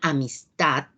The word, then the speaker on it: amistad: aquí tenemos un ejemplo en el caso de la palabra amistad sabemos que a son sílabas de tipo a tomás se pronuncian con menos fuerza y tal es la sílaba tónica por la ubicación del acento se trata de una palabra aguda veamos lo siguiente aquí